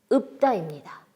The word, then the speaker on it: 읊다: 자, 리을 피읍이 들어간 단어, 리을 피읍. 자, 시조를 또는 시 한 수를 읍다입니다. 자, 리을 피읍 중에서 리을이 아니라 뒤쪽에 있는 피읍. 그런데 피읍은 대표 발음으로 소리 날 수가 없습니다. 피읍이 대표로 낼 수 있는 발음은 바로 비읍이기 때문에 비읍으로 소리를 내서 읍다입니다.